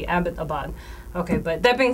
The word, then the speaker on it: Abbottabad: it correctly about know abot abad because it's named after Major James Abbott who was an English major actually so these nameless Abbott so should be Abbottabad okay but that being